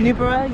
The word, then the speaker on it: Newborough: Newborough, yep.